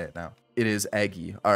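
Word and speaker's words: Eguy: It is Eggy. All right. Either way, we're past the whole who's related to who, how to pronounce names part of the video.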